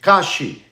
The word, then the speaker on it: Kalshi: It's a market, and they call it Kashi. Kashi is spelled KALSHI.